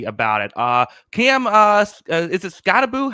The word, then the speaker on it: Skattebo: Cam, is it Skattebo? How do you say his name? Skattebo.